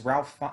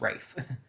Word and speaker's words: Ralph: the other nazi was ralph or ray fines rather it is pronounced rafe um i did not